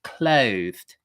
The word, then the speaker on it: clothed: How to pronounce clothed.